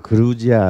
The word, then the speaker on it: 그루지아: 영어로는 조지아에 geo 그걸 조지아를 읽으면 촌놈이 그거는 이제 트럼프나 조지아를 읽는 거고 어 우리는 그루지아 읽어야니다 근데 그